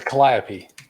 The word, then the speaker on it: calliope: organ thing is called it's called a caliop c-a-l-l-i-o-p-e there you go somebody tell me how to pronounce that um let's see um let's see oh it's a calliope calliope yeah okay um okay